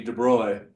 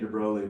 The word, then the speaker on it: de Broglie: Oh, excuse me, de-BROY. I'm not good at pronouncing the name. We'll get to that pronunciation in a later video. I grew up saying de Broglie, but it's de Broglie, de-BROY.